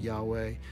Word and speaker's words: Yahweh: are a variety of theories as to why we should vocalize it Yahweh and not something else while we should pronounce it as the word Yahweh one prevailing one that